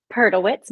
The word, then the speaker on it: Perdelwitz: it's not just you the the correct pronunciation of your name last name perlewitz but I will answer